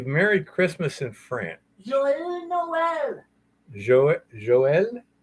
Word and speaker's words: Joyeux Noël: Joyeux Noël. Joël? Joyeux Noël.